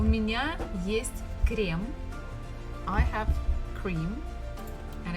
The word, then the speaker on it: есть: So for example, the first word, есть, means to eat. We have only one vowel, so it has to be stressed, it has to be pronounced as it is.